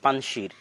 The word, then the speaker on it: পানশির: আমরা পানশিরের কথাটাও বলতে চেয়েছিলাম যে পানশির, বা আমাদের বাংলায় লেখে পানশির, কিন্তু সঠিক উচ্চারণ হচ্ছে পানশির, 5টা নদীর সমাহার।